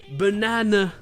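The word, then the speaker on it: banana: ça se prononçait : C'est pas faux… mais le dernier "a" n'est pas accentué. Donc c'est "buh-nA-nuh". Et ça c'est juste la version américaine ! Dans la version anglaise le deuxième "a" est un "AH".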